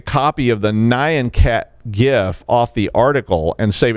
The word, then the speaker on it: GIF: apparently that gif and yes i said gif and you will take my hard g when you pry it for my cold dead soft palate uh is called